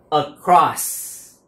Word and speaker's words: across: Âm đầu là âm ờ, nhưng nguyên âm giữa là âm o dài. Cross, across, across. Mình đọc across, across, âm đó cũng được, nhưng âm tiếng Việt, âm Mỹ là âm o dài, a dài ha, a dài.